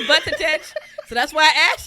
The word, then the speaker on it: Buttigieg: As a gay, it's Buttigieg. It's not. Because every time I look at it, I want to say Buttigieg, so that's why I asked your ass.